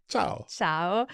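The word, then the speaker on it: ciao: G and I uh because at times we want to over stress the letter I and it's not really necessary I see where you're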